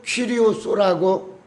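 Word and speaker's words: κύριος: 그리고 신약에서는 퀴리오스라고 이렇게 발음을 합니다.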